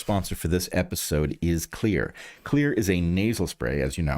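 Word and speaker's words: Xlear: See this curveball right at the front of the word and it's pronounced clear as you've heard me do throughout history.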